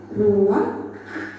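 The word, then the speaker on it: רוּחַ: Ruah. Iya, benar. Tenggorokan kita harus benar-benar bersih di akhir pengucapan.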